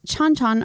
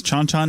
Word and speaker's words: Chan Chan: 25 people found at chanchan archaeological site and it's chanchan not chanchan I okay so I